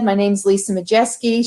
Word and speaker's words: Maciejewski: And so, as Christy said, my name's Lisa Maciejewski. She didn't pronounce my last name because she still hasn't figured it out yet. But it's pronounced Maciejewski, and I am the owner and president of Gold Star Medical Business Services.